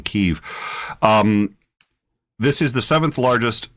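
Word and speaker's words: Kyiv: All right, this is Kiev, which I learned Russian, and so I learned it as Kiev. So I'm still trying to pronounce it as the Ukrainian Kiev.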